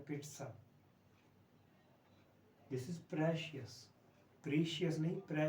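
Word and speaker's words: pizza: तो ये है पिट्ज़ा, पिट्ज़ा, पिट्ज़ा या पिट्ज़ा दोनों ठीक है, पर ड या ट का साउंड बीच में बोलना जरूरी होता है। पिट्ज़ा ऐसे ट है एग्जैक्टली, और पीछे स साउंड है, पिट्ज़ा।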